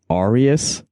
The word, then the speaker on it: Arius: And perhaps more importantly, you also play guitar and keyboard and do some vocals in the band Arius.